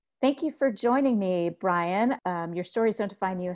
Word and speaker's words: Bryan: despite the why and my first name it's pronounced just like and I so it's Brian and my last name is